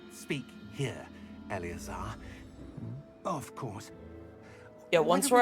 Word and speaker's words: Eleazar: Oh, Eleazar is how you Glad pronounce my it, rather not cryptic Alazar.